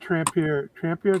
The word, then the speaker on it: Trampier: yeah, I wish David Trampier. That's how you pronounce it, Eric.